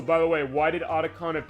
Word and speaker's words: Otacon: And Otacon, by the way, it is a name off of the anime convention Otakon. Fine, it's pronounced Otakon as far as how the Japanese pronunciation is, but they took Otacon as far as that.